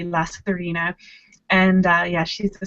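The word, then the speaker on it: Lasairfhíona: name is lazarina um i'll put that spelling on the screen because it is a crazy spelling um to us who aren't irish but i love it i think it's so pretty la serena and uh yeah she's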